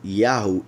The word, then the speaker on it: Yahu: So Yahu is the pronunciation of these 3 letters whenever they appear, wherever they appear.